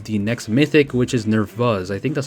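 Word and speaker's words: Nerþuz: next mythic, which is Nervuz. I think that's how you say her name. It's not a P or a B, it's V. Nervuz, I think. That's how Faye said it, I believe.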